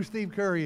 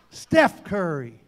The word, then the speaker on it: Steph Curry: I'm walk Steph Curry Steph Curry all right gotta say it right Steph Curry that's what happens when